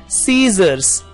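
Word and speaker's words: scissors: सीजर्स, सीजर्स में S के बाद जो C लिखा हुआ है वो साइलेंट लेटर है।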